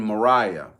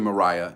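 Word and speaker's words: Marah: journey and encamped in Mariah I'm saying Mariah it's spelled m a r ah and Yahweh gave to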